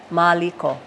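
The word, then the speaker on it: Māliko: this and so Maliko there is a kahako over the a there Maliko oh and some of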